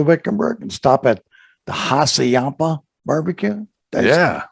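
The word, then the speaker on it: Hassayampa: and stop at the haciampa barbecue yeah did i say that right you did barbie yeah you got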